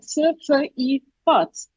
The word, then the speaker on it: צפיפות: You're saying it really fast. It's like tzfifut.